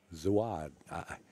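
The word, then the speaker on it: Suad: I keep pronouncing his name wrong. I don't believe it's Zuat. It's Zuad. S-U-A-D.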